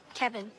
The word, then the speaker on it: Kevin: Kevin. Kevin. Kevin. Like Kev in.